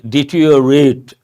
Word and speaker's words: deteriorate: When we pronounce, we say deteriorate. But look at the spelling. If I say deteriorate, it looks like deteriorate. That is R-I-O, we don't pronounce.